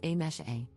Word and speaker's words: Amse: For context, my name is written as amse but is pronounced as a mesh a.